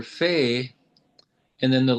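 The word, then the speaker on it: פ: Oh, Fei and Pei? Yeah, Fe and yeah, it's pronounced in Fe soft form and Okay. Pei hard form.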